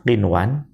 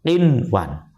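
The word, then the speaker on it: قِنْوَانًا: Perhatikan kalimat qinwan ya. Itu nun mati bertemu waw. Kalau dalam satu kalimat tetap dibaca izhar. Kalau lain kalimat dibacanya idgham bihuna. Jadi karena di situ satu kalimat maka dibaca qinwan.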